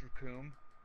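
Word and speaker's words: Recoome: I loved, Airbridged Raccoon. Raccoon Ultra Fighting! Ah, what? The name's Raccoon, and it rhymes with Doom.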